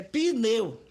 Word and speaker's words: pneu: Pneu tem 2 sílabas, é pneu.